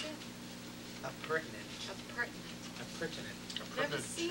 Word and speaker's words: appurtenant: So before I start, how do you pronounce it? Appurtenant.